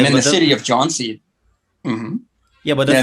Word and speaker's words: Jhansi: city is, of Jhansi, there was taxi drivers pretending they couldn't even pronounce the name Jhansi because I wanted to go to the Jhansi hotel, what is and they were that? saying, "Oh, Jinsi, Ginsi," like they're pretending they couldn't pronounce the name of their own town, which is the name of the hotel.